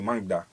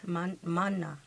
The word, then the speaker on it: mana: Like, everyone has a mangda, if I'm pronouncing it correctly. Mana. Yeah, Mana.